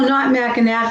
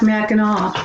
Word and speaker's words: Mackinac: so where it was the island is pronounced with a w sound what island is the